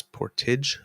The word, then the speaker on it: Portage: because it's but guys, it's not Portage Lisker, it's Portage Lisker. Portage. Good to know. Thank you, Kit Donna. That's how it's pronounced. I did not know. Portage. Portage in Okay, Maine, there you Portage go. Lisker, not Portage. Yeah. Yes, Portage. It's spelled the same. Yes, it's just exactly. pronounced Thank you so differently.